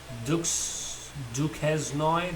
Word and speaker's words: Duquesnoy: Then we had Patrick Williams and Tom Duquesnoy, that's how they pronounce him.